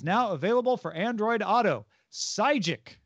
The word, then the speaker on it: Sygic: google maps is now available for android auto sygic it's spelled s-y-g-i-c if you want to go look